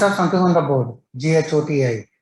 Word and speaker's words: ghoti: Well, how do you pronounce? Come on, quick. William Shakespeare proved this. Don't go for Google search. ये word मिलेगा ही नहीं. The star of words. Fish.